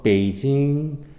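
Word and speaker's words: 北京: 삼성 브라스 일성 이네요 그러면은 발음을 어떻게 할까요 다섯번째 내려가 떠올라 올게요 베이 그 다음에 길게 하겠습니다 징 다시 어 베이징 우리 앞에 지 깨진 크게 아니라 베이 칭 자 느낌을 살려서 자 세련되게 읽을 수가 있습니다 한번 더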